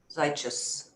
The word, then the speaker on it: Zeichus: Zeichus. Rhymes with righteous.